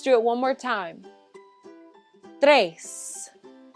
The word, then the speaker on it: tres: it one more time tres if you can't quite roll your r's just say trace that's okay i'll give you a